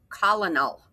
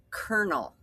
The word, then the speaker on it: colonel: It looks like colonal, but that isn't what this word is. The word is colonel. That is like a a ranking in the army. An army officer is a colonel, and that is how you spell that.